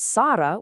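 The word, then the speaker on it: سار: The word sara with a light breezy saw simply means to walk.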